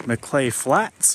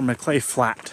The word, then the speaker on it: Maclay Flat: I don't remember if earlier I pronounced it McClay Flats or McClay Flat, but I just saw a sign and there's no S. So it's just McClay Flat.